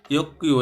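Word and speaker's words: 육교: গিয়ক বাচ্চামের পরে যদি গিয়ক আসে এটা কয়ের মতো উচ্চারণ হয়, ইয়ক্কিউ, এই জন্য হবে ইয়ক্কিউ মানে হচ্ছে ফুটওভার ব্রিজ বা এরকম কিছু বোঝাইছে, ওভার ব্রিজ বা ফুটওভার ব্রিজ।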